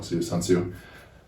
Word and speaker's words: Tzu: that right yeah so I'm Tzu's don't sue those - its Tzu okay thank you su mente